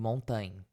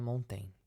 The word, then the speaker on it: Montaigne: Acho que o certo de se pronunciar é Montaigne. Então vamos falar dessa forma, porque foi a forma que eu consegui encontrar uma pessoa pronunciando aqui, procurando no YouTube.